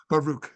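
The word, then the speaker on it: Baruch: from cuni bar uh I always forget how to pronounce it baruk or baruk baroo right from cuni baroo Rabbi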